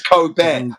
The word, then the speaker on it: Kobe: Nobody gives a about Kobe Bryant. It's not co It's not Kobe. It's coo pronunciation. Cob, not coo.